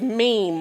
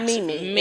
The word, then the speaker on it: meme: And just for you all who don't know, the other word that you use is meme, not Mimi.